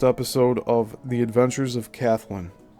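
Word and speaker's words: Kathlyn: On December 29th, 1913, Celig Polycope debuted the first episode of The Adventures of Kathleen. It's either Kathleen or Kathleen, but it's spelled K A T H L Y N.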